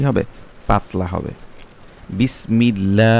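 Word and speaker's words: بِسْمِ ٱللَّٰهِ: লাম জের মিল বিসমিল লাম খারা জবর লা বিসমিল্লাহ যেহেতু লামের আল্লাহ শব্দের লামের পূর্বে পূর্বের হরফে জের সেজন্য সে আল্লাহ শব্দের লামটা কি হবে পাতলা হবে বিসমিল্লাহ লা তারপর হচ্ছে কি হাজের হি বিসমিল্লাহি এখানে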